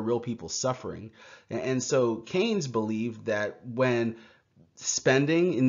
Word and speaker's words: Keynes: I know it looks like Keynes, but it's pronounced Keynes.